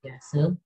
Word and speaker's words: Piaget: Jadi Piaget itu tulisannya itu Piaget ya, dibacanya Piaget.